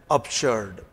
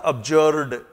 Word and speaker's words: absurd: पहला शब्द है एब्सर्ड ध्यान दीजिए इसका प्रोनंसिएशन है एब्सर्ड अभी मैं कि सज्जन का वीडियो देख रहा था और अपने आप वो टीचर इस शब्द को बार-बार एब्जर्ड बोल रहे थे इटस नॉट एब्जर्ड इट इज अब्ज शर्ड